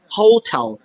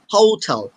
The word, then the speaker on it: hotel: সো এই উত্তরটা হবে হোটেল দুইটা ঠর মতো উচ্চারণ করো রাইট হোটেল সবাই বলো এভরিওয়ান সে ফাইভ টাইম হোটেল অনেক